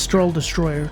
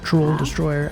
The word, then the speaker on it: Troll Destroyer: i will take this stroll destroyer troll destroyer i keep saying it wrong always have so we'll